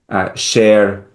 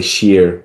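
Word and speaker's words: شیر: The pronunciation is different from Iranian Persian. Um, I'm trying to think of an example. Zer, under. Um, we say zir in Iran, and that the original pronunciation, and this is one kind of vowel, or the same thing in sher, lion. We say shir in Iran. That long a vowel is the original vowel. That is the original pronunciation, the much older pronunciation of these words.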